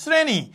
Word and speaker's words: শ্রেণী: এখন ধরো আমি বললাম শ্রেণী। খেয়াল করো আমি বললাম কি? শ্রেণী। দেখো শ্রেণীর উচ্চারণটা কিন্তু কি? জিহ্বার আগা দিয়ে আসে। তাই না?